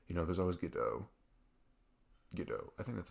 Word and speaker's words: Godot: Like, you know, there's always Godot. Godot. I think that's how you say it. It's spelled with a T at the end, like Godot. But I think it's pronounced Godot. I have it on my PC.